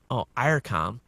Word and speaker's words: Eircom: The country's biggest firm, Eircom, pronounced Eircom, as in Ireland, has begun sending letters